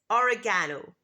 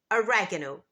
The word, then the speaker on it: oregano: in American English it's oregano oregano so here the main difference is the placement of the stress in British English this dress is on the third syllable oregano but in American English this